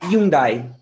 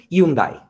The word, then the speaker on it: Hyundai: la de onda porque tenemos una h así que no la pronunciamos y van a decir hyundai hyundai pueden brasil hyundai pero en españa y en todos los sitios hispanohablantes hyundai esta otra es una